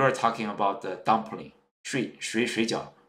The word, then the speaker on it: 水饺: For instance, you can say, my waiter, how much is 水饺? Shujiao means dumplings. But suppose you are a learner of Chinese, then your pronunciation is not very good. You may say 睡觉.